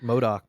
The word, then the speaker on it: MODOK: of the most like formidable enemies is it modok am I saying it right yeah you're right modok yeah you know what I mean because like